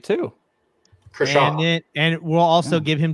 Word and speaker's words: Kershaw: Kershaw.